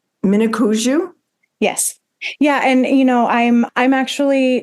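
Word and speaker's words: Mniconjou: Mnicoujou?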